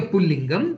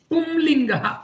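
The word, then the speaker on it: पुंलिङ्ग: word can be a Pullingam, which is a masculine gender. It is actually not Pullinga, it is Pumlinga. There is a Anuswaram here, so it is rightly pronounced as Pumlinga.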